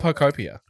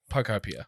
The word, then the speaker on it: Pokopia: Speaking of games that are expensive, Pokemon Pokopia.